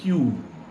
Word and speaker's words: queue: QUEUE spelling फार विचित्र, उच्चार कसा वाटतो ना, QUEUE.